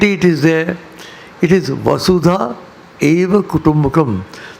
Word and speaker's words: Vasudhaiva Kutumbakam: It is Vasudha Eva Kutumbakam. The word itself is nothing to do with Vasudeva. Many people mispronounce it. They think it's not Vasudeva. It's Vasudha Eva Kutumbakam.